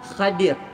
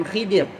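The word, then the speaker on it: Khadir: adalah nabi ataupun enggak kalau kita sebut Khidir ada kalau kalau sebetulnya yang yang dia punya ejaan Betulnya hadir bukan Khidir hadir ada juga yang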